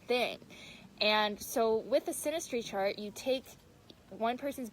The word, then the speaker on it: synastry: yeah some people say sinus tree some people say synastry I know synastry is the right way to say it but anyways yeah so